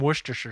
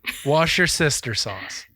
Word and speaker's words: Worcestershire: Wash your sister sauce.